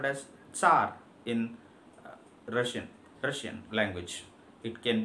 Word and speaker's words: tsar: it in English, but we do not pronounce T here, we just call it as Tsar, Tsar.